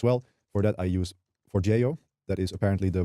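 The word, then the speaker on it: Forgejo: For that I use for Jio. That is apparently the right pronunciation of it.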